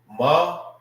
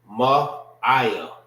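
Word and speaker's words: מעיים: Bowels and internal organs is Ma'aya. Ma'aya. All right. If you want to know how to say this, it's simple. Ma. All right. I. You know what I mean? You're just making the sound.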